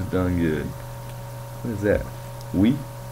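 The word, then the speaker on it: oui: We? Apparently you spell we, O-U-I. In French?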